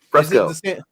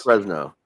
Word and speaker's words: Fresno: that for um out in California San Francisco Fresco uh Fresco yeah hold on that yeah the Fresco creeper and it looks like a pair of pants Fresno Fresno that's what it is I knew I